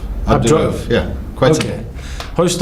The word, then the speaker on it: Abdu-Raof: It's Abdu-Raof. Abdu-Raof.